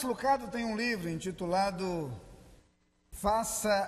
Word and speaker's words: Lucado: é o autor Max luqueiro que nós já nos acostumamos a portuguesa a pronúncia do seu nome chamamos de Max Lucado tem um livro intitulado